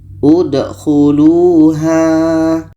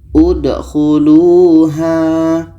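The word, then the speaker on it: ادْخُلُوهَا: Jika huruf yang ketiga berbaris di depan, maka hamzah wasal berbaris di depan. Maka ini bacanya udkhuluha. Udkhuluha.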